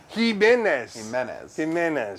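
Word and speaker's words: Jimenes: No, not Jimenez. You're saying like you're pronouncing it like him, H-I-M, like him. It's like Jimenez. All right, fine. Jesus. It's a E. It's a E. Leon Jimenez. Jimenez.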